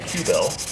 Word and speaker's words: Kyubell: pick it up so this is called a q bell that's correct i said it right you did you got the pronunciation right yeah i read the web page